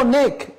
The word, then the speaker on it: অনেক: আমরা অনেক শব্দটা উচ্চারণ করার সময় অনেক বলি না, আমরা বলি অনেক।